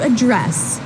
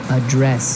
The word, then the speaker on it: address: dress has the strip the stress on the second syllable okay a dress yes